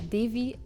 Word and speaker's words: Devï: you started such an amazing business here, building Devï is how you pronounce it, right? Yeah, Devï. Well, you can pronounce it how you want, but I say Devï, yes.